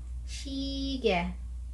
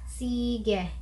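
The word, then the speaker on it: 시계: So kung babasahin natin siya, shige, shige, shige, which means watch or relo. Shige, shige. So nakita niyo yung difference. So hindi mo siya pwedeng bigkasin as S, sige, sige.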